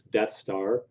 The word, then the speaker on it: Deth: Um, I think you just pronounce it Death.